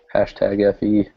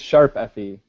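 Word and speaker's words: ♯FE: get hashtags tring it's sharp Fe is how it's pronounced because it's like a musical based like it's all supposed to be like a concert sort of thing so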